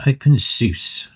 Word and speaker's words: openSUSE: Open Seuss, that's the right word to pronounce it.